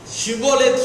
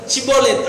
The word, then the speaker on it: Shibboleth: ஷிபோலேத் சொல்லு, சிபோலேத் அப்படின்னா தப்பு.